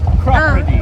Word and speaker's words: Cropredy: Ask this person how you pronounce it. Hello, perfect timing. How do you say the name of this town? Chiropody.